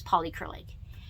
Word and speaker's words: Polycrylic: it's pronounced and it's called polycrylic like poly acrylic but it's polycrylic and it makes it